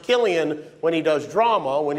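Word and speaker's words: Cillian: few highlights of your boy Jimmy name it's pronounced Killian when he does drama when he does comedy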